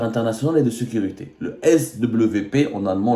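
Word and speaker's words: SWP: et de sécurité le S WP en allemand le W se prononce V le svp le institut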